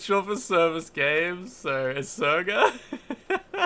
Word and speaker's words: Sega: Yeah, Sega is actually an abbreviation of service games. So, the correct way to pronounce it is Serga.